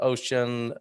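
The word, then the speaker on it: Auchan: i buy for our household too i found ocean that is how to pronounce it right ocean large stores are the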